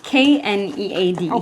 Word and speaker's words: knead: a d e a k n e a d yes mhm silent k k I've been living in